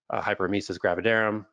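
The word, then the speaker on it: hyperemesis gravidarum: vomiting and nause and vomiting is tied to hyper mesus gravidarum that's how you pronounce it which is tied to histamine again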